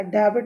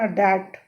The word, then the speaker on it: debt: Indian farmers are always in debt, debt मतलब कर्जा, डेबिट मत पढ़ देना, डेट। बी साइलेंट होता है।